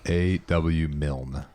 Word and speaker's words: Milne: A.W. Milne.